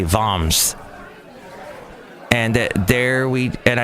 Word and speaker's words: Worms: in the town of it spelled like worms but I think they say voms and there we and